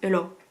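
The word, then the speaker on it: heula: de la Normandie, c'est Eula. Eula. Eula, ça veut dire oh la vache en normand. Ça s'écrit Eula, H-E-U-L-A, mais ça se prononce Eula, parce que le A se prononce O.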